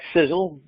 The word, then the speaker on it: Sisel: is Kostas sizzle International pronounced like sizzle si z z le